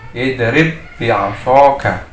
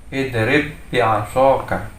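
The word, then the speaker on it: اضرب بعصاك: Nah, ketika pada idgham ini maka sifat qalqalahnya menjadi tidak terbaca. Jadi dia seperti tasydid ya. Di sini contoh pada lafaz di sini ada ba sukun ketemu dengan ba berharakat kasrah. Membacanya idrib bi'asaka. Idrib bi'asaka. Jadi tidak boleh membacanya idrib bi'asaka. Jadi langsung ditasydidkan. Idrib bi'asaka.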